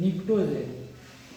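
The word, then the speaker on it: pnictogen: तो इसमें एक और नाम होता है इसका, यहाँ पे लिख देते हैं निक्टोजेल, पी साइलेंट होता है निक्टोजेल।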